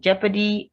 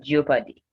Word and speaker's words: jeopardy: EO gives the S sound. And same in jeopardy and jeopardize. So it's not jeopardy or leopard.